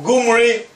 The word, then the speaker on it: Omri: Which is so that's how we have Omri could also be pronounced as Gumri, and it was so pronounced by the Assyrians.